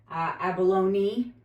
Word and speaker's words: abalone: Abalone. Thank you to the person who corrected me. It's pronounced abalone, like baloney.